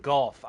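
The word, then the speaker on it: Gough: Golf. I forgot he pronounces his name like that.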